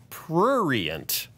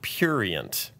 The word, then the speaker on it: prurient: Oh, Dorothy said, just watching your podcast now, the word is prurient, not purient. Is it? However, I do enjoy your logical and balanced approach to subjects like today's regarding the court clerk. Okay, so how do you say it? Prurient. Prurient. I was wrong. I was saying it purient.